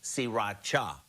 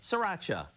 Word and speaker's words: Sriracha: cooking is now everywhere it's actually pronounced siracha but most of us just say Sriracha so here are the